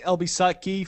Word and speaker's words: LBSUTKE: That's pronounced Elbisutki for those of you that don't know.